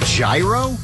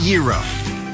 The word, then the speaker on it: gyro: Foods is it the gyro is it the hero nope number 46 is pronounced the era because the meat is